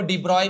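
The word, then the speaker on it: de Broglie: इसको डीब्रॉय भी बोलते हैं। डी ब्रोगली ऐसा उसका नाम है। है ना? डीब्रॉय ऐसा नाम बोल देते हैं।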